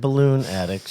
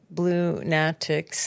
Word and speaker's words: Blunatics: not the Blunatics, not balloon addicts. You know, if you spell it phonetically, it is Blunatics.